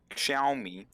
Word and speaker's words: Xiaomi: to be on for that ah can you pronounce that give me a it is a phone company xiaomi that is correct how did you bruh you